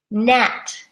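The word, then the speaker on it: gnat: them so G here net the spelling is G n80 so we ignore the G and just say n80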